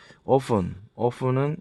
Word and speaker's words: often: often은 이게 t는 묵음이죠.